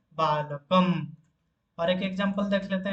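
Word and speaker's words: बालकं: और एक एग्जांपल देख लेते हैं, बालकम। क के ऊपर यहाँ पर अनुस्वार है, तो वहां पर जब हम उसको उच्चारण करेंगे तो म उच्चारण करेंगे, इसलिए बालकम।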